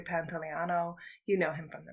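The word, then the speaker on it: Pantoliano: we referred to him it's Joe Pantano or Pantano Joey pants is a little bit easier but it is Joey Pantano you know him from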